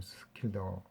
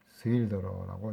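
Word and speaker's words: Schilder: 이게 스킬더인데 영어식 발음 스킬더, 화라식이라는 스힐더라고 이제 읽습니다.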